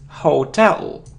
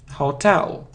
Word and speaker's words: hotel: the correct pronunciation is hotel Hotel hotel so you need to remember that the stress the stress is on the second syllable the stress is on